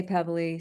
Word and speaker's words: Pebbley: to take a poll this is literally how they spell it Pebble I don't know but they say PEB so that's what it